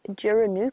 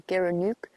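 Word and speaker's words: gerenuk: I was looking at photos of an antelope called a geranook or a geranook, depending on where you are and how you pronounce it.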